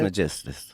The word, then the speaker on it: Trismegistus: Trismegistus.